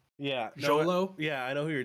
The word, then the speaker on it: Xolo: i don't know how to say his name xolo yeah jolo yeah i know who you're talking about i